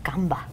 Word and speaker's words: Canva: ¿Cómo se escribe Canva? ¿Qué hace Canva? Ok, es C-A-N-V-A. Muy bien. No se dice con la S, pero no sé por qué le decimos Canva? Canvas.